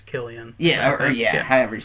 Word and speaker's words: Cillian: Yeah, I think it's Killian. Yeah, however you say his name. But it's spelled like.